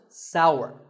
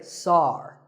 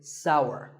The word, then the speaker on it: sour: what about this taste it's pronounced sour some people say sar that is a mispronunciation the only correct way to say this word is sour many words in the